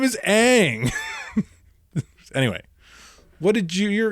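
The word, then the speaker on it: Aang: like his name his name all throughout the cartoon is Ang and it's not mispronounced because it's an Asian film that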